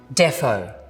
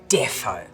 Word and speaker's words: deffo: Defo. Really great word. I usually spell it with two F's. Because you go "deffo".